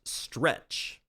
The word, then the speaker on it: STRC: Bitcoin treasury firm Strategies Preferred Shares, STRC, pronounced stretch.